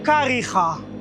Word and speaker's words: Kariega: It's actually Uitenhage, but now we pronounce it as Kariega.